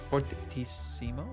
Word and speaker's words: fortissimo: Machito Bai, suspect fortissimo. Fortissimo?